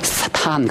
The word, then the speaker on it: 사탄: 예 히브리어도 사단입니다 그래서 한국말 사단이라고 하는 말이 히브리어 언어의 가장 밀착한 발음이 나는 이야기가이 나는 말합니다 세턴보다 사탄 그러면 훨씬 더 히브리어 언어적입니다 한국 사람 참 똑똑해요